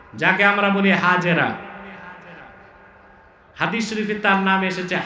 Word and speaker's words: হাজের: আল্লাহ নির্দেশ করলেন ইব্রাহিম এবার তুমি তোমার স্ত্রী হাজের যাকে আমরা বলি হাজেরা হাদিস শরীফে তার নাম এসেছে হাজের কি নাম